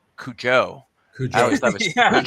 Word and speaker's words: Cujo: I always thought it was Cujo, right? Yeah. Blevins noticed it. Yeah. Oh, okay. Yeah, I knew the accent on the U, Cujo. Yeah. Right. Or it would be on the O.